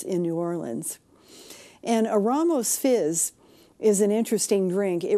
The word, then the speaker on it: Ramos Fizz: in recent times, and it's the Ramos Fizz, or as it used to be widely mispronounced back in the past, as the Ramos Fizz.